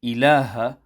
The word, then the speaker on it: إله: Similarly, the ha on ilaha must also be emphasized clearly.